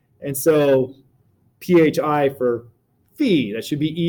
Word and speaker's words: phi: usually would rewrite as my pronunciation of fee by the way is probably different than everyone else you've heard right most people safe I